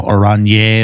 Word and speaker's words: Oranje: House Orange Nassau, Oranje, or something like that. Oranje. It's Dutch.